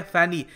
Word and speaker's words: Fani: तो आपके knowledge point of view से मैं ये बता दूं कि जो ये नाम है फैनी, इसको बांग्लादेश में प्रोनाउंस करते हैं फोनी और इसका मीनिंग होता